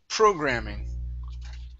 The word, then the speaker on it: programming: very good next up programming the stress is at the very very beginning programming programming okay very good